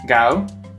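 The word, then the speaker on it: 九: So the number nine is gao, and dog in Cantonese is gao too. Am I right? You're saying this very much. And if you slightly mispronounce it, you will swear in Cantonese.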